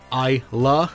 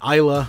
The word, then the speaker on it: Islay: So for those who don't know, basically, Islay, and it is pronounced Islay, not Islay, not Isla, it's Islay Scotch.